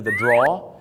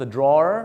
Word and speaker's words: drawer: นะ ฮะ ก็ คือ The draw ถึง แม้ ว่า จะ มี ER นะ ครับ แต่ ฝรั่ง หลาย คน ก็ เรียก ว่า The draw บาง คน ก็ จะ ออก เสียง ว่า The drawer นะ ครับ จะ ได้